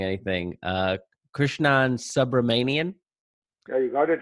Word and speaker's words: Krishnan Subramanian: Today we have with us, and Krishnan, let me know if I'm mispronouncing anything, Krishnan Subramanian.